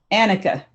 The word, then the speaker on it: Annika: Anek. Annika. Did you have, how do you pronounce it? Annika. Annika. Did you have fun writing your book?